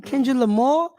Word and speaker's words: Kendrick Lamar: That's how you pronounce his name. Kendrick Lamar.